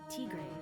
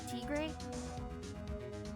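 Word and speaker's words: Tigre: Furio Trey. Is that am I saying it right? Traay. Yeah. Furio. Traay.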